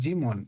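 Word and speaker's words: daemon: A demon pronounced demon is a background process.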